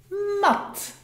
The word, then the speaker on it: mat: But why is it then pronounced short in mat?